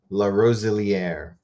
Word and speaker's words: Larosiliere: La Roselière. Oh, La Roselière.